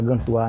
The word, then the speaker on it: Gantois: Antigamente aqui chamava Alto do Gantój, quer dizer, em francês pronúncia Gantoar, né, gente?